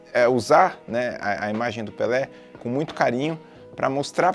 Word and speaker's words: Pelé: E o título do vídeo é Why Pelé is Called Pelé. Algumas pessoas em inglês pronunciam Pelé, né? Pelé. Não tem muito ué, né? Como a gente fala aqui.